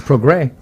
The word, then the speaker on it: Prograis: It's spelled with an S. It's Prograis. Prograis, yeah. So that S will get you, too.